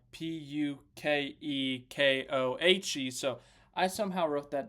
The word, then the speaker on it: Pukekohe: It was like Pukekohe. So I somehow wrote that down very wrong. Blame me for any mispronunciations, any misspellings.